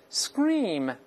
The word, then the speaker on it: scream: 我们大声来读一下 scream scream，同样不要读成 scream，